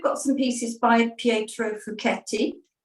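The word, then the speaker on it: Fouchetti: some pieces by Pietro fuketti sometimes pronounced uh wrongly as fuchsetti but it's fuketti because it's Italian and these are the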